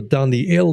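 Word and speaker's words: דניאל: them babylonian names now the name daniel in hebrew down the ale means god is my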